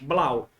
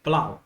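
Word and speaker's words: Blauw: povos Vamos lá eh você talvez não saiba pronunciar esse nome Provavelmente tem origem holandesa então é yanes Ianes tá bom yanes blau bem facinho yanes Plau coloquei aí direitinho a pronúncia para você erudita em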